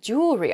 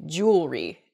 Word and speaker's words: jewelry: word is jewelry jewelry I think I'm probably guilty of this mispronunciation I can't say that word mispronunciation where the word kind of gets a little bit smushed together and we say jewelry instead we've missed that that second e sound in there it should be jewelry in a sample sentence